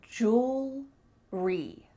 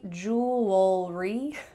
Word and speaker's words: jewelry: quickly in the US, we're gonna say jewelry. Jewelry. We're not gonna say jewelry with an extra in the middle. Instead, jewelry.